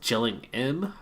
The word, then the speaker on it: Gillingham: in eight teeth so I think it's gelling em chilling him and that's how they pronounce it in the UK Gillingham but meanwhile we had one